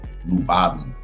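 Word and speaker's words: Lyubovny: for the record blad's last name is um pronounced uh lubab right so Nu bab means like um love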